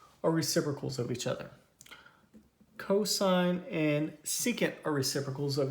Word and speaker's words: cosine: as we're going through these so this is pronounced sine not sin this is cosine not coughs cosine tangent okay and then we have cotangent